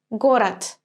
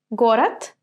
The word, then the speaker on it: город: I write it with d, город, but I do not pronounce it like this, город. I'm actually saying the t sound here, город.